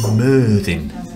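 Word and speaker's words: Myrddin: It is actually pronounced Mirthin. Because they, like I said, the lady said they pronounce the double D's as T, which is Welsh for Merlin, and there's a little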